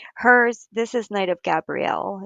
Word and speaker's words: Gabrielle: So this is pronounced Gabrielle. My son's name is Gabriel and it's spelled the same way, so it just depends on how you pronounce it.